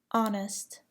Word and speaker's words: honest: Do not pronounce the H in the following words: exhausted, exhibit, ghost, air, herb, honest, honor, hour, spaghetti, tie, vehicle.